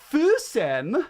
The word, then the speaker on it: Füssen: And she was like, Füssen. And I was like, Oh, they pronounce the E's with the E.